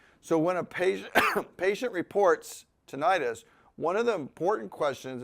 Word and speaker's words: tinnitus: But in tinnitus, it is pronounced with a short I, okay?